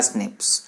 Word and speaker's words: SNPs: Single nucleotide polymorphism, यानी SNPS, उसको pronounce किया स्निप्स।